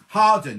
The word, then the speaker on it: Hawarden: Oh, well, like Harden, you call that, don't you? It's spelled Hawarden, but it's Harden.